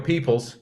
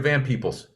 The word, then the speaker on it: Van Peebles: So I wasn't Mario Van Peebles, like Mario Peoples. It's Mario Van Peebles.